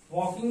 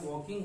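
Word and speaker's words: walking: वॉकिंग में L silent होता है, इसको वॉक मत बोलिएगा, एल साइलेंट होता है। वॉकिंग होता है, एल साइलेंट होता है, ठीक है।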